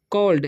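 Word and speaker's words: called: क्योंकि सी A double से होता है कॉल, यानी कि ए डबल एल जब साथ में रहेगा तो ए का उच्चारण अ हो जाता है, ठीक है।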